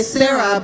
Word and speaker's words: Sara: Actually, I love pronouncing her name because in English, you'll say Sarah, but in Hebrew it's Sara, so it's easier for me.